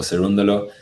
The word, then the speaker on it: Cerundolo: say his name properly hi hi i'm francisco cerundolo and you're listening to the game2lab podcast there